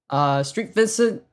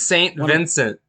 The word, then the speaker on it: St. Vincent: Street Vincent says nothing, but releases a sad but true Metallica cover. I'm sorry. Do you say Street Vincent? It says St. Vincent. That's Saint Vincent.